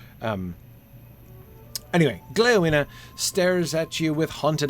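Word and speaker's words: Gléowine: would be pronounced wina with stress on the first syllable and the final the terminal e uh a lesser syllable so gleovina it would be four syllables his name um anyway gleona stares at you with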